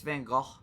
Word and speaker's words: Van Gogh: So, Dolly Van Gogh. Is that how you pronounce that? It's Van Gogh, technically.